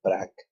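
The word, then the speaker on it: practícala: Accent on third to the last syllable. Practicala. Okay.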